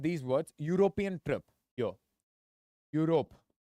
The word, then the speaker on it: Europe: words European trip here Europe am I pronouncing it as eope or Europe I'm pronouncing it as U or U so Europe okay I'm